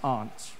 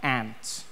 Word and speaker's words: aunt: For instance, I pronounce the opposites of uncle as aunt. I say my aunt. Mm-hmm. Out here, you say my aunt, which to me is an insect, which made me look